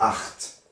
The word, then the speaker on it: acht: Ensuite, il y a acht. A-C-H-T.